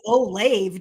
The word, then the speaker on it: Olave: name wrong so chris how do you say his last name oh lobby oh love it oh i do say it right yes you do say it right it says oh lave do they that sounds